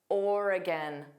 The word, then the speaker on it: Oregon: Oregon. Notice there are three sounds. are stressed or and then a hu or a orura and then we have an unstressed gin.